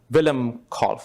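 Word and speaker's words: Willem Kolff: is the picture of Dr uh Wilhelm call is that the right way to pronounce Dr Miller Willem call okay so he is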